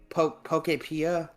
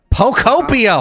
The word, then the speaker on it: Pokopia: Pokepia. Pokopia.